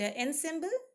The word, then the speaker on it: ensemble: Okay, and ensemble, it's here ensemble. That's how we pronounce it.